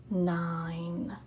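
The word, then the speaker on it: nine: I, And remember, we have that silent E at the end. We see him, but we don't hear. So silent E makes the I say I. And remember, I write that long line for the long vowel sound.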